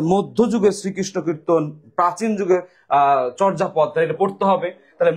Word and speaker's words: চর্যাপদ: নিদর্শন লিখিত নিদর্শনের নাম কি বলতো নাম হচ্ছে চর্যাপদ নাম কি চর্যাপদ উচ্চারণটা হবে নাম হচ্ছে চর্যাপদ এবং চর্যাপদ পরীক্ষায়